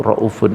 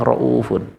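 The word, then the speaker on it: رؤوف: Dikarenakan memang dialek Arab itu raufun. Itu ada yang membaca raufun, ada yang rufun. Dialek Arab orang Arab itu ada yang membaca raufun, ada yang baca raufun. Bahkan Hijaz bacanya rufun bukan raufun.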